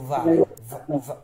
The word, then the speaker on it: vai: আমরা একটু একটু বয়ের মতো উচ্চারণ না করে ভয়ের মতো উচ্চারণ করব, ঠিক আছে। যেমন ইও ভাদো, ওকে, তু vai vai, এরকম ভাবে, ঠিক আছে?